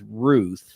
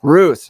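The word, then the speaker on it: Routh: big issue but uh so I'm seeing the pronunciation now is Ruth Ruth okay not Ralph ran Ruth you know what right when I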